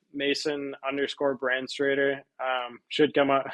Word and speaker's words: Branstrator: full name Mason underscore brand straighter um should come up I can spell it it's b-r-a-n-s-t-r-a-t-r to try to sound it out brand straighter uh but yeah I'm